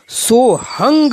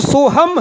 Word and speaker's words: सोहम: समय चल रही हैं, वहाँ सोहंग शब्द का उच्चारण सोहंग किया जाता है। यानी लिखने में तो सोहम है, मगर इन प्राचीन परंपरावादी गुरुओं के माध्यम से जो इसका उच्चारण करते हैं वो सोहंग करते हैं, तथा व्याकरण के विद्वान